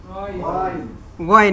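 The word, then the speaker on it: غين: শেষ এটা কি ক্লিয়ার নুক্তা দিলে কি হবে গইন গইন গইন নুক্তা দিলে গইন গইন আর নুক্তা ছাড়া আইন আইন আইন আইন নুক্তা দিলে গাইন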